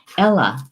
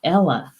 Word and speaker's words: eala: He says, I forgot how to pronounce it in Gaelic. Hang on. Gotta get to the Gaelic. The swan. Eala. That's it. Eala.